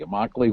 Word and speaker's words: Immokalee: called the Coalition of Immokalee Workers, rhymes with broccoli, Immokalee Workers, I got it right, a community organization that really deals with some 4,000 migrant farm workers.